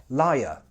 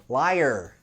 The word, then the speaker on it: liar: Now remember that most British accents are non-rhotic, so that R won't be super pronounced. It will sound like liar, a liar. In most American accents, however, it's rhotic, so that R will be quite pronounced.